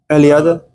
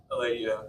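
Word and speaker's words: Eliade: We're somewhat butcher his name pronunciation wise. Marcia Eliada? Eladia.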